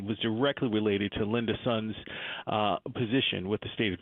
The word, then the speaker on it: Sun: So the indictment charges, is it Sun or Soon? I just assumed it was Soon. It's Sun. Okay. That's the way it's been pronounced good.